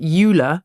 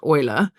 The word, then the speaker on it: Euler: There's a There's um Euler was how I thought his name was pronounced, but apparently it's Euler.